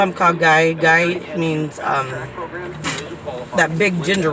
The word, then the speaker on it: Kha Gai: I keep saying it wrong. Kha Gai. Is it Guy? Yeah. Or is this Tom Cock? No, it's Kha Gai.